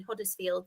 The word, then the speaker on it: Huddersfield: And Sean, I saw your tweet to me before and I just pronounced my H in Huddersfield.